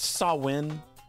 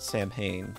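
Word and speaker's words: Samhain: and the other world is it isn't this pronounced sawin I could swear that that's sawin not Sam Hayne I mean I'm pretty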